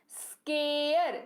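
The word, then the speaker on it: scare: अगर आपको ए दिख रहा है, ए के बाद एक अक्षर छोड़ करके ई दिख रहा है, वो अक्षर जो छोड़ा हमने वो आर है, तो इसका उच्चारण ए अ के तौर पर ही होगा, जैसे कि स्केयर यानी कि डराना।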